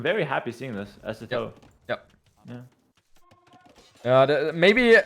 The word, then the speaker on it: Sitaux: No, I think it's actually pronounced Sitaux, like Sitaux? in French. Okay. But it's hard for us. Like, even I'm not a French speaker, so I would pronounce it differently. But you put so much emphasis on the O part.